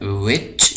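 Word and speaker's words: which: इसी तरह जो तीसरा लफ्ज़ है इसको हम पढ़ते हैं विच, यहाँ पे दोबारा एच साइलेंट है तो इसको हम पढ़ते हैं विच, ठीक है।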